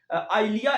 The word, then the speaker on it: Eylea: अच्छा ये जी EYLEA ये इसकी प्रोनाउंसिएशन है। आइलिया इंजेक्शन की एक डोज